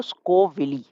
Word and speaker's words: Scoville: तो स्कोल्वी जो है इनके प्रॉपर्ली अगर मैं नेम प्रोनाउंस करूँ तो स्कोविली, right? स्कोविली इज़ the proper name, proper pronunciation, ठीक है।